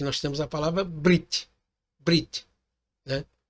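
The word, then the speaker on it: בְּרִית: temos a palavra Brit Brit né alguns fala berit mas esse e aqui ele pronunciado muito rápido então é Brit Brit Brit Você fala muito rápido ali tá bom yalal você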